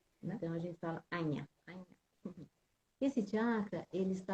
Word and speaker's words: Ajna: Mas a pronúncia correta é Anya. Porque É. não existe o J é som de NH. Né? Então a gente fala Anya.